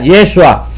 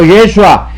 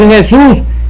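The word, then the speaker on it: ישוע: es el Castellano jefú Pero tenía que ser con a para mantener la pronunciación original hebrea yeshua pero no los ingleses trinita los norteamericanos trinitarios a ellos no les importó mantener la pronunciación correcta del idioma hebreo yeshua y escriben es yizas al español y entonces todo el mundo empieza a pronunciar mal este nombre a decir Jesús y eso es una mala pronunciación porque esto no es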